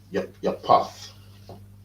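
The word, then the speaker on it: Japheth: So that is Japhet, and their name is Japhet, right? Or Yapath. Yapath in the scriptures.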